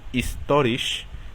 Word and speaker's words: historisch: Y un ejemplo de donde no se pronuncia es, por ejemplo, historisch, que significa histórico.